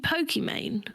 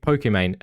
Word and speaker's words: Pokimane: And that is the correct pronunciation. Do you mean Pokimane?